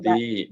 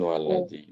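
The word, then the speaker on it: وَلِذِي: muslimina ammati walladzi qarraba walidhi, bukan waladhi.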